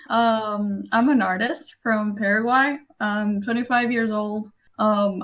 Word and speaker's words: Paraguay: the country paraguay paraguay yeah paraguay it's uh you know how to say parasol parasol yeah okay so you